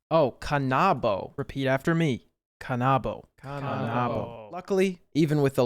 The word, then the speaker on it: Kanabo: Cannabo. Cannabo? Kanabo. Kanabo. Kanabo. Kanabo. Oh, Kanabo. Repeat after me. Kanabo.